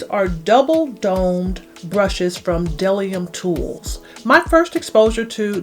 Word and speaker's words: BDellium: so you would think that it would be pronounced bedellium but it appears that it's pronounced delium but again I want to give you a